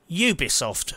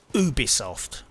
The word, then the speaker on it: Ubisoft: It has been pointed out to me that I have been mispronouncing Ubisoft for years. Apparently, the correct pronunciation is Ubisoft.